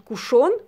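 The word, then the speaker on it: cushion: Кушен, все, потому что второй гласной нет, ударения больше ставить некуда. Соответственно, это, ну, по-английски, да, это будет на первый слог, и действительно там гласной не будет, это все будет сокращено. Кушен тогда будем так его называть.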